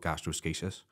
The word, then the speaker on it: gastroschisis: So it's spelt like gastroschisis. It looks like that there, but it's called gastroschisis.